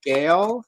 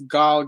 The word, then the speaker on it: Gal: I've been calling her Gail, and apparently it's Gal Gadot.